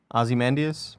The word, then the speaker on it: Ozymandias: the Ozymandias Ozymandias episode though how do you pronounce it uh-huh Ozymandias okay the worst hair was definitely um skinnies